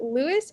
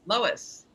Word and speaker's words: Lois: Is it Lewis or Lois? Lois. Lois. You can reach her Twitter, Instagram, and Facebook. And then the links are Lois is funny, Lois is my realtor.